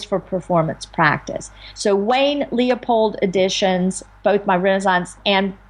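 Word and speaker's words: Leupold: music and renaissance music are published by Wayne Leopold and that's um Leopold editions I'll spell that it's l e u p o l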